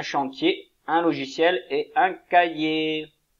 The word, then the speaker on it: cahier: Un chantier, un logiciel et un cahier. Comme le cahier d'exercice, avec un H muet au milieu.